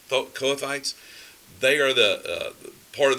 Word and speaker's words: Kohathites: Kohathites. Kohathites.